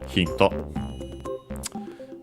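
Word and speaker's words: ヒント: Accented just like in English on the first syllable, hinto.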